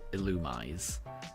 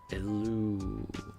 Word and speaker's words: Illumise: Yeah, I would pronounce it illumise. Uh, you thought it was similly pronounced like the word illusion. Illumise.